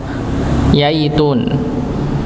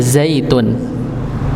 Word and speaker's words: zaitun: Jangan berubah menjadi yaitun, tapi zaitun. Ya, karena ada sebagian kadang bacanya wattini wayaitun, harusnya zaitun.